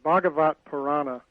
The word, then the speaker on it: Bhagavata Purana: It's easiest to drop the A at the end. Oh. Because you can either pronounce it or not, but Bhagavata Purana. Bhagavata Purana. Would be the easiest.